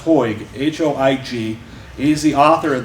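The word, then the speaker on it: Hoig: Massacre and I believe his last name is pronounced hoyg h-o-i-g is the author of this book um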